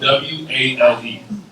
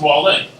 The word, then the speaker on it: Wale: It's actually spelled W-A-L-E. And it's pronounced Wale, not Wale. I'm not a sea creature.